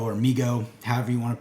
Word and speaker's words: Mego: Joe brand and Mego. They did the following crossover set of Snake Eyes and Storm Shadow, and we're going to talk about it today. Right, so if you are unfamiliar with Mego or Mego, however you want to pronounce it,